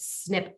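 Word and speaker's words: SNP: pursuing special needs plans you're going to hear this pronounced as snip plans s NP snip plans all right these are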